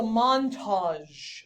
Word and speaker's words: Montage: over the place um so the pronunciation is kind of weird because the AG G makes a z sound which seems kind of weird right but AG G is actually right so Montage everybody say that Montage Montage yeah